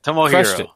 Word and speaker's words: Tomohiro: You just did. That's how you say it. Tomohiro.